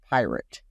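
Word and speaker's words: PYRT: new Venture called pirate yes that is pyr T and he pronounces it pirate which is going to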